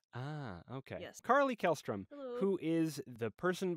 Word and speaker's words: Kjelstrom: Kjelstrom. The J is silent. Ah, okay. Yes. Carly Kjelstrom, hello.